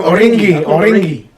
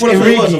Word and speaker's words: Origi: He called him Origi. That's not his name now. It's Origi.